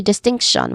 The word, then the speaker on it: distinction: And then lastly, distinction, which has three syllables, but you stress here on the second syllable.